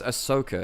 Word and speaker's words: Ahsoka: Oh yeah, it's Ahsoka, isn't it? Which is very Americanized. Ahsoka, which is like it's very Americanized.